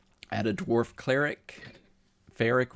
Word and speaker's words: Feric: because my character is Ferric, which the story of that is I was playing EverQuest Online Adventures back on the PS2, and I had a dwarf cleric. Ferric rhymes with cleric, and you know he's